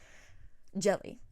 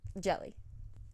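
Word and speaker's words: Djèlí: this video today because i realize i absolutely butchered it in my you know january to june wrap up video jelly okay jelly p jelly clark okay phenomenal book let me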